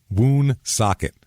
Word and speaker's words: Woonsocket: Woonsocket. Like W-O-O? W-O-O-N, socket, like a wrench.